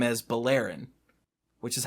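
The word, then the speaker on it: Beleren: at least I think it was in 12 pronounced Jace's last name is Bowl Aaron which is how I've said it ever since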